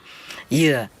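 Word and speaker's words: dừa: papaya and the mango because in Vietnam especially the south they pronounce coconut like y. Yeah. In Vietnam in the southern accent year and papaya in Vietnam they call it dooh doo.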